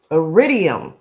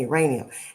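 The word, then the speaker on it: iridium: that IR no actually I'm saying it wrong it's called aridium I was saying uranium idium is what's it's called okay and it says Haiti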